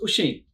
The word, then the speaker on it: Oisín: and when I'm sexy Irish so it's actually pronounced machine ah yeah but I've been in Australia most